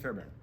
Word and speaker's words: Fairbairn: Is that how you pronounce Fairbairn? Sorry, it's all right. Go ahead. No, how do you say it? Kaimi Fairbairn. No, you're right. Kaimi Fairbairn.